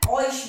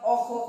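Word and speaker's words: euch: Year किस में change हो जाता है, ऑइश में, ठीक है। इसे यूक मत पढ़ना या ऑख मत पढ़ना, इसका सही प्रोनाउंसिएशन क्या है, ऑइश, ठीक है।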